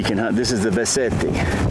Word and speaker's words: Beceite: This is the Beceite. Yep, I'm saying it right in Spanish. Beceite.